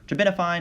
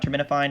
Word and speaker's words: terbinafine: The other note about terbinafine is that you can pronounce it taste isn't fine, as in it's going to be accompanied by taste disturbances.